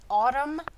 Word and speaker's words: autumn: So if you've got a word like autumn or column, That N is silent at the end, so it's really easy to forget it.